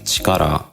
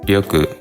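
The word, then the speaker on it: 力: Ma and force Chikara if you're wondering why we don't say Chikara it's because it's often read as Yu when it's combined with other Ki we look to or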